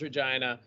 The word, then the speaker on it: Regina: to pronounce virginia so it is it is pronounced regina so i'm from vagina saskatchewan i started doing